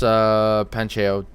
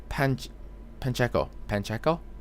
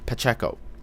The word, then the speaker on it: Pacheco: Jason Aaron, Carlos Pancheo. Sorry, I'm not pronouncing that right. Pacheco. There's no N. Pacheco.